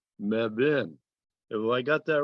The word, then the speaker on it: Mebane: meb uh whose name is mebane but pronounced mebin well i got that